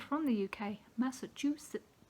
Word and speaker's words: Massachusetts: not from the UK Massachusetts which always seems to be pronounced without the t's but anyway I can't